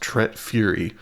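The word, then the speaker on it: Tret Fure: T R E T F U R E pronounced T Fury.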